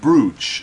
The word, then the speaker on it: brooch: A You can slot a feathered brooch. A feathered brooch is made by Am I pronouncing bru correctly?